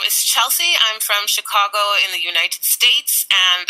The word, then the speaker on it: Chicago: And is it Chicago or Chicago? What's the correct pronunciation, actually? So we have a tendency to say Chicago or Chicago. We have a Midwestern long A that we kind of drag out.